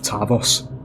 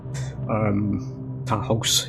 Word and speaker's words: Tarhos: They're actually doing something with Tarvos. Tarhos, even. Get the pronunciation right.